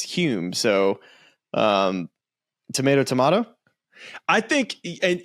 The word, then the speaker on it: Hulme: I don't like Hume. I think I want to be Holm from now on.